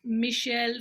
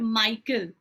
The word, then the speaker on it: Michel: It should be pronounced as Michel Foucault. He was a French historian. Okay, he was a French historian. It is Michel, not Michael, and it is not Foucault, it is Foucault. Okay, it's a French name, so you should pronounce it like that.